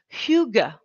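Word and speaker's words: hygge: et porte un nom vous lisez higuey hqe y de ge et ça se prononce fugue alors higuain on peut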